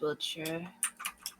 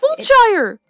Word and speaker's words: Wiltshire: Nice dress, Wiltshire.